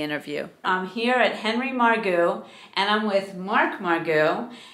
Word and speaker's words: Margu: and I said oh is it margu or Maru and he said margu and I said oh my goodness I've been